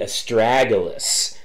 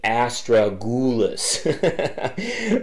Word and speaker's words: astragalus: the set audio dactyls is pronounced the astragalus not the Astra ghoulis laugh out loud so